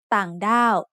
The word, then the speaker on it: ต่างด้าว: So we can see that ต่างด้าว should have a low tone for the first syllable and a falling tone for the second syllable.